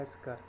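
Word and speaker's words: eschar: we call N एस्कर इसको pronounce करते हैं एस्कर सो अगर आप इसके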